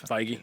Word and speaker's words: Feige: I always say his name wrong. Is it Feige? Feige. I think it's Feige, right? It's Feige, yeah.